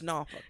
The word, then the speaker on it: Norfolk: It's Norfolk.